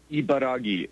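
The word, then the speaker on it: Ibaraki: Ibaragi.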